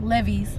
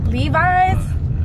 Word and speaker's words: Levi's: to pronounce Levi's like levees like I used to being strong oh I want some levees and one day somebody was next to me and it was like Levi's I was like what's